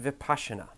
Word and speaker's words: Vipassana: vocabulary lesson is for the Vipassana article it's pronounced Vipassana let's start with the word kidneys in the